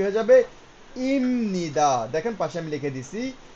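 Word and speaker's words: 입니다: কিন্তু এই নিয়মের কারণে এটার উচ্চারণ কি হয়ে যাবে? ইমনিদা। দেখেন পাশে আমি লিখে দিছি। ইমনিদা।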